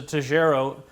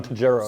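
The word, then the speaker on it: Tojeiro: now this is a tejero is that how you say that that's how i'd pronounce it yes john tajero so he's the i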